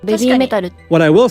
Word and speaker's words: BABYMETAL: And BABYMETAL has a similar issue where, as I always say in every video, BABYMETAL is the way many Americans say their band name, but originally it's supposed to be ベビーメタル。